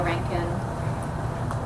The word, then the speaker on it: Rankine: a few paragraphs from Claudia Rankine whoom rhymes with plot so that this new